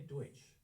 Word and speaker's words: Deutsch: uh brought it over the Pennsylvania Deutsch brought it over we just refused to pronounce it correctly uh when they got over here and that's why we say Pennsylvania Dutch instead of psylvia deuts they were German they were not Dutch um but anyway so